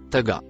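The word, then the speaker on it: طغى: Le mot en couleur marron se prononce taga.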